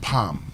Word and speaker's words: palm: So, it's palm not you know if you want to say that palm oil, palm wine, no L here.